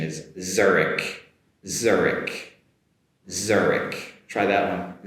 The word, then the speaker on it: Zurich: Uh the English pronunciation is Zurich Zurich Zurich. Try that one. Zurich Get that “z” sound at the beginning and also a “k” at the end as well there.